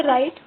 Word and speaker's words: write: ठीक है, राइट, राइट में डब्ल्यू साइलेंट होता है।